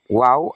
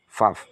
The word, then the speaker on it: Vav: Yang Alef, Bet, Gimel, Dalet, He, Waw atau Vav. Kalau cara bacanya, Vav.